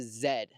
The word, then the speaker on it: Z: car is the Honda Zed uh like the British pronunciation for the letter z i think that's awesome but I just call it the Z because I think it's